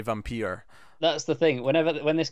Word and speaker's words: Vampyr: making a documentary and he pronounces it Vampyr, and he comes off as a pompous little shit because he's saying it that way. So I think of him whenever I say Vampyr.